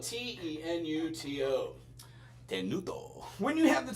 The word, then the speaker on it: tenuto: And it's spelled T E N U T O.